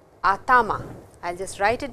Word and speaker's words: atama: head, that is called atama. I will just write it down for you. Atama. And please don't pronounce it as atma, it is atama.